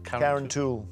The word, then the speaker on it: Carrauntoohil: I've never heard of Mount Brandon, and I don't even know how to pronounce Carrauntoohil? Carrauntoohil.